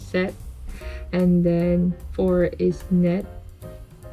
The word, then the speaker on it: 셋: so one is hana you don't pronounce the t at the end strongly as we pronounce it in english so it's set and then four is